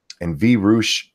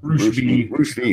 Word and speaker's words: Roosh V: And V Roosh, is that how you say his name? Roosh V, that's it.